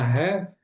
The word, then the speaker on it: half: an hour and a half, por mais ou menos, aproximadamente, esse about aqui, né? For about, por mais ou menos 1 hora e meia. E esse half aqui, nós não pronunciamos a letra L.